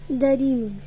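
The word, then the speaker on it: 다리미: Now I'll teach you how to pronounce it. Darimi, darimi, darimi, D-A-R-I-M-I, darimi, darimi, darimi, darimi.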